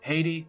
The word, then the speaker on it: Haiti: The first one, Haiti, was probably the most harrowing of the bunch, I would say. It's pronounced I-T.